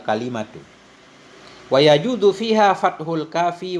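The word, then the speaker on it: كلمة: Walau boleh juga kita baca kilmah juga boleh, kalimah juga boleh. Kilmah boleh, kalmah boleh, kalimat juga boleh. Banyak cara baca. Jadi yang paling fasih itu bacanya wal kalimatu.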